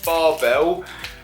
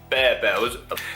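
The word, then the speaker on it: Barebells: But it is a Barbell caramel and cashew bar. Now Barbell do loads of different flavours, and I think I'm actually pronouncing that wrong. It's Bear Bells.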